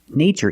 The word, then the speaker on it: nature: in these two words in the first word we use the long a like day and say nay nature nature is the thing the